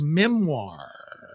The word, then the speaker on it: memoir: He's releasing his memoir. Memoir. That word is not pronounced the way it's spelled. By memoir. I think it's French, whatever.